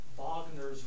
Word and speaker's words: Wagner: into your life with vogner's ring you pronounce it with a V because it's German I would guess that